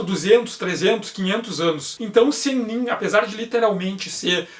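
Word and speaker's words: 仙人: oito Imortais os oito senin senin é a pronúncia Japonesa por um termo de origem chinesa cuja tradução literal é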